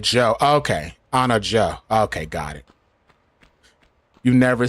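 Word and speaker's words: Anna Diop: It's pronounced like Joe. Okay. Anna Joe.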